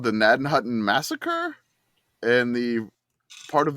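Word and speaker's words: Gnadenhutten: start with uh listener it is spelled GN a d n h u tteen naden Hutton n NAD Hutton NAD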